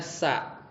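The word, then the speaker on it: سَ: Sin itu ya huruf sin, bacanya sa, ya, artinya akan.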